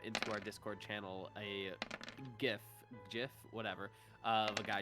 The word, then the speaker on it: GIF: movie yeah it's a great movie also it's gif i got it if somebody says it's jiff i will physically fight them yeah it's pronounced